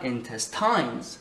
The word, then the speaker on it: intestines: Intestines, intestines, c'est pas intestines, c'est pas intestines, c'est intestines. Et donc c'est la deuxième syllabe qui est accentuée.